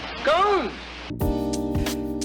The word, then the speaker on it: Scone: Why do we pronounce it like posh English people?